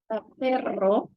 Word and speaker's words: perro: Perro, which is dog, is we need to roll the R. Perro.